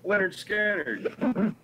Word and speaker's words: Lynyrd Skynyrd: simple man what was that that's uh yeah pronounced Leonard scattered unfortunately knit we have a say there's some